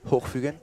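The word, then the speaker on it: Hochfügen: How do you pronounce it? Hochfugen?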